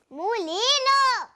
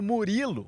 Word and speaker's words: Murilo: Mulino! Com apenas 5 aninhos, ela não sabe pronunciar corretamente o nome do ídolo Murilo, o zagueiro do Palmeiras e da seleção brasileira.